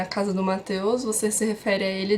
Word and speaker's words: Mateusz: Ou quando alguém chama Mateus, que é a pronúncia do nome do Mateus aqui, Mateus, dependendo da forma da situação, eles falam Mateusza.